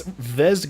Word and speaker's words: Vezzed: A lot of people are wondering, who are asking us, isn't that Vex Gaming? Are you guys mispronouncing it? No, it is Vezzed Gaming right now, correct?